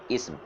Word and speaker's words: اسم: ہے، لفظ اسم ہے، تلفظ اس کا درست جو ہے وہ سین کے سکون کے ساتھ ہے، اسم۔ تو آپ اس کو